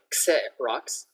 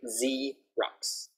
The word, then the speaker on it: Xerox: It doesn't have Z in it, but the sound is Z. So we don't say Xerox, we say Xerox.